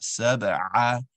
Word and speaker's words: سبع: And the last point I have for you, brother, is pronunciation of the letter ayn. It's on saba'a, saba'a, which is a hamza. We want saba'a, want to get under it, right?